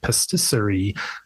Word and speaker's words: Pastisserie: Am I pronouncing it right? Pastisserie? That is correct. Yeah, they said in our interview, emphasis on the pastisserie. Okay. But you are saying it correct.